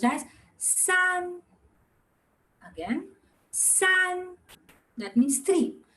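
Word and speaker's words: 四: Coming to 4, and now 4 is very short, and since it's a 4 tones, you have to throw it out. How do you say that? S, throw it out. S, wako bar s, and the spelling is si.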